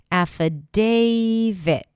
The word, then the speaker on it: affidavit: The first sound is a as in cat. Then we have f, an F sound, and then a schwa. In the spelling, you'll see the letter I, but it's actually a schwa sound. Affa. Then day, that's the primary stress. Affidavit. It's like David, but with a T.